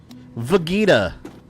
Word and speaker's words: Vegeta: The Ken reporters pronounced Vegeta correctly.